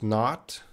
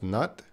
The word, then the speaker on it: not: Fanny, I heard you pronounced not. It's same to pronounce nut.